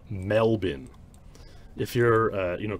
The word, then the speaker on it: Melbourne: from what they call melbourne if you're uh you know canadian or american you might not know but they pronounce it mel bin even though it looks like it should be melbourne so i think that's